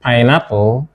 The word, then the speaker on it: pineapple: And in B, which is wrongly pronounced pineapple, what we have is pineapple, pineapple.